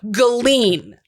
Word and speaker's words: Galien: I have a problem with the way that this town is spelled because it's spelled Galien. So like alien, but with a G at the start of it. Galien. But it's pronounced. That's what I keep wanting to say so bad. I just want to keep saying Galien. I keep wanting to say either Galien or just Like gay Eileen, alien.